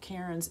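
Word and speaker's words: Keyron's: And if you're a long arm quilter and are looking for that pantograph, Karen's is spelled K-E-Y-R-O-N-S, Karen's Chevrons.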